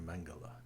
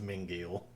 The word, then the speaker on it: Mengele: community i was called dr mengele actually he mispronounces it and says mingle dr frankenstein but i